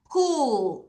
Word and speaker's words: pull: L 두 번 들어갔어요. L 발음 해주세요. pull. 아, PU가 계속 우 발음하구나.